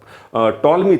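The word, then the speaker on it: Ptolemy: तो मेरे दिमाग में एक चीज आती है, टॉलमी थ्योरम। क्या? टॉलमी theorem. टॉलमी का नाम आपने सुना है? बेसिकली पी इसमें साइलेंट होता है, ऐसा मत समझ लो, टॉलमी थ्योरम, ठीक है।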